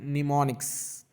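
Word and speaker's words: mnemonics: निमोनिक्स, am silent रहता है, ये कहलाते हैं निमोनिक्स।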